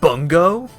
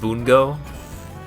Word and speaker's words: Bungo: a new season of bungo oh wait no you're actually you're you're genuinely excited about that oh okay I thought you were making a joke oh okay it's pronounced Bongo I guess that would